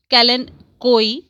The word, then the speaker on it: kalanchoe: store or garden center chances are it's a kalanchoe pronounced callan koi a succulent known botanical as kalanchoe do you